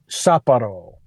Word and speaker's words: Sapporo: It's the Sapporo, is how you pronounce that, right? Yes. Sapporo? Sapporo.